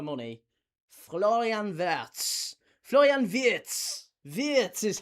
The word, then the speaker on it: Wirtz: Wirtz is how you say it.